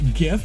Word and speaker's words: GIF: Creative themselves the GIF said it's pronounced GIF. Yeah, well, they're wrong. They're wrong. If it was supposed to be pronounced GIF, they would have spelt it like the peanut butter, wouldn't they? But they put a G, not a J. You know, a G, a G.